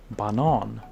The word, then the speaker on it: banan: But what about just banana, or in Swedish banan? That's how you spell banana in Swedish. You pronounce it banan.